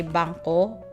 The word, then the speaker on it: bangko: like i said bank you just say banco something else so it's kind of like bangkok but like without the k at the end how about animals oh